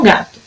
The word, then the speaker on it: gato: E no gato? Gato. É no gá, tá?